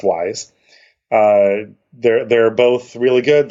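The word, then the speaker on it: Wwise: studio and audiokinetic wise which is w wise but it's pronounced wise there they're both really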